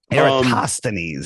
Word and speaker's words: Eratosthenes: It's Eratosthenes.